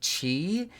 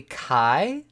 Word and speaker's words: Chi: little conversation piece um my boyfriend said that we are probably saying cheese name wrong especially since a lot of the greek alphabet is used in that area and that zone of the map that is probably not chi is probably kai that the boss is